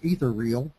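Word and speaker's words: Ethereal: predecessor's name of etheral or as we would pronounce it in Texas ether reel for basically ever since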